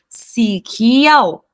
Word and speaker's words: สีเขียว: muito do tailandês aí, eles têm a pronúncia, né, desse K como se fosse K, K. Então, a gente não fala como se fosse Camila, né, esse forte que a gente tem do C, né, seria um bem tranquilinho